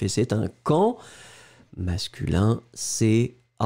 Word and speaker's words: camp: Masculin, C-A-M-P. Un camp, le P final, bien sûr, n'est pas prononcé.